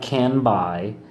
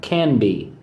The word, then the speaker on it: Canby: It's not Canby, it's pronounced Canby. Get it?